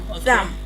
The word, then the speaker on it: thumb: We have bum. Comb. Lamb. Thumb. Dumb. And climb.